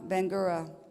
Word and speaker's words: Bangura: Ramata Sama Bangura. Accent on the first syllable.